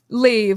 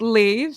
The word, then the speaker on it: Leiv: night from Saturday night leave in London I'm still waiting for them to send me the pictures Saturday night leave like like heart like leave love and it's a it's